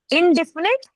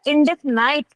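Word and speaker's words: indefinite: अब moving forward अब इनडेफिनेट या इनडेफिनाइट प्रोनाउन। ठीक है? दोनों तरीके से बोल सकते हैं इसको। इनडेफिनेट इनडेफिनाइट दोनों ही बोल सकते हैं। दोनों ही सही है। दोनों की स्पेलिंग भी वही है।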